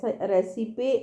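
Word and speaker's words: recipe: तो उसको आप रेसाइपे, रेसिपे ऐसा याद कर सकते हो, लेकिन साउंड इज रेसिपी, ये है रेसिपी, ठीक है।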